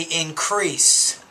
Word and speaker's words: increase: Words like, if you say increase, you have to make sure you pronounce that final S.